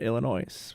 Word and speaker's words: Illinois: that up to two the s in illinois is silent that's what i thought